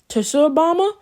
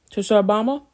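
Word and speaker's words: Tsar Bomba: that Russia has the tashu Obama um I think I'm pronouncing that semi-correctly uh t-s-a-r space b-o-m-b-a Church Obama anyway that has a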